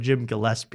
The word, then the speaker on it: Gillespie: I mean, if we've learned how to pronounce joke world, you could learn Jim Gillespie.